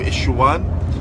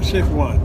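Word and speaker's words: Chefchaouen: Well, that I must say, that was just something, and of course, you've just pronounced it the way that the locals do, yes. But everybody else would say Chefouan.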